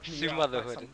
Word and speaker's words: Sumotherhood: Sumotherhood, that's how you say it.